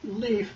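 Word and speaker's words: Lif: It's Leaf, but it's spelled just L-I-F.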